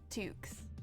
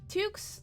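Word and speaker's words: tuque: welcome in toks okay I'm sorry they're called Tukes tooks scullies skull caps or beanies yes um it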